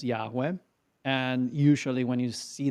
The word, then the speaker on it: Yahweh: That means that the word that you have in in the Hebrew original is the tetra grammaton that we pronounce Yahweh.